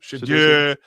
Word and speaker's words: Shedeur: Yeah, Shedeur.